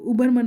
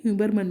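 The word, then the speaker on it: Hubermann: देखिए कोई कोई एच साइलेंट बोलता है, उनको उबरमन भी बोलते हैं और कोई कोई ह्यूबरमन भी बोलते हैं. तो बोथ आर करेक्ट.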